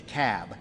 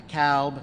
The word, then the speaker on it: Cobb: the room it's the cab not to cowb not the cobb it's the cab so we got to pronounce these things doherty another one of those where albini is they're 74.